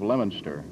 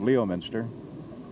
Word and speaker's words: Leominster: country and suddenly have a story coming out of Leominster that usually came out Leominster and then of course